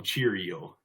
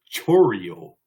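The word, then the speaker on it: Chourio: um I like to call him Cheerio but that's not how you pronounce it's Chio so it's Jackson Chio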